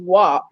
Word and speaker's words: WAP: was it just wap it's wap pronounced wah but we all know